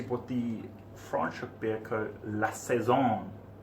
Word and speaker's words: La Saison: La Saison. Am I saying that correctly? As far as I'm aware, yes.